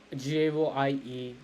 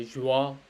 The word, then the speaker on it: joie: So OI is actually spelled as wa, like moi. Again, la joie, and la bois, like that. Wa. It has to come like wa sound. Okay, moi, la joie, la boîte.